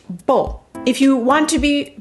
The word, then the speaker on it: Beau: very short vowel sound bo the letter combination e a u in french is o as in and uh